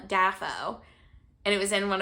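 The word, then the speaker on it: Dafoe: all right with William defo who I personally love I saw a video of him pronouncing his own last name or pronouncing his own name and he said his name was William dafo and it was in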